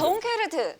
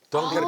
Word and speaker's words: 덩케르크: 덩케르트 빼놓을 수 없을 것 같거든요. 완전 덩케르트라고 그러는데 네. 트예요. 덩케르크.